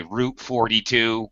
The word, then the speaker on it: route: I actually pronounce it both ways depending on what I'm co-locating it with.